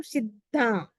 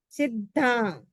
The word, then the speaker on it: सिद्धा: सिद्धा, double the और ध है साथ में संयुक्त, इसलिए लगेगा जो सिद्धा, सिद्धा, सिद्धा, सिद्धिम, सिद्धिम, सिद्धिम मम दिसंतु, मम दिसंतु, मम दिसंतु।